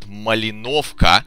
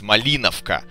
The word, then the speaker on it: Malinovka: It's not Malinovka, it's Malinovka. You need to put an accent on the right part.